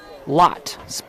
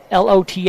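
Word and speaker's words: Loth: Oh, it's going to be Kinley Lot. L O T H, but the H is silent.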